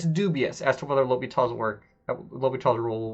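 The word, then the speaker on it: L'Hôpital: dubious as to whether l'hopital's work Lobby 120 rule will work or not okay it is pronounced l'hopital it is not pronounced like l hospital or something like that this is this is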